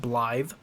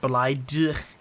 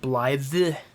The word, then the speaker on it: Blaidd: Apparently his name is pronounced Blaidd, not Blaidd, but Blaidd.